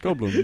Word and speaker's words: Goldblum: No, like I'm not saying Goldblum. Goldblum. Go bloom. Do I say it like that? Go bloom. Go bloom. It's go bloom.